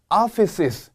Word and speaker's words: offices: the offices 올려주시고 주의할 점 S 발음을 2번 하도록 요구하고 있습니다. 이런 단어가 지문마다 한 번씩은 무조건 나와요. office 하고 지나가는 분들이 2명 중에 1명은 된단 말이에요. 근데 중요한 채점 포인트니까 S 발음을 2번 해주셔야 된다는 거. offices 그리고 촌스럽게 오피스라고 하시면 안 되고요. 입을 좀 더 턱을 내리셔가지고 office라고 해주셔야 됩니다.